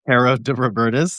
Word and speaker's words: Caro de Robertis: So Many Stars, and it's Caro de Robertis.